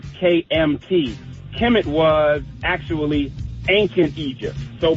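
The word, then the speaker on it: Kemet: we really want to talk about is also Kim it and and that's spelled kmt Kim it was actually ancient Egypt so before it was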